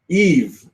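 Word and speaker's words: Yves: So Eve says SD securero. Eve Gimat. That's how you say his name now. I know. Eve. His name is spelled Y V.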